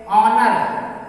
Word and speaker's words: honour: उसी तरह से ऑनर, HONOUR, H साइलेंट रहेगा।